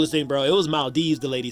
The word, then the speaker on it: Maldives: It's not Maldives, it's Maldives. I'm like, how? There's an E after the V. The E is silent.